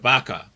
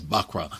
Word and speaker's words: buckra: with regard to that they said vaka so I'm like yo I said y'all said it wrong it's buckra so getting throw it on